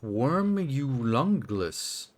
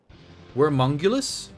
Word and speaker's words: Wormungulus: On Wormulungulus. Wait. Wormungulus? Oh, Wormungulus. Okay. I was saying it wrong.